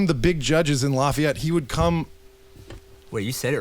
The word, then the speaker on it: Lafayette: one of the big judges in Lafayette.